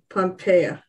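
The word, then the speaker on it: Pompea: spell that p-o-m-p-e-a p-m-p-e-a pompeo like pompeii yeah and there's a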